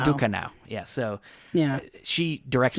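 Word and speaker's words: Ducournau: I suck at pronouncing things. But, uh, Julia Dor. Yeah. See, it's uh, Dukano. Dukano.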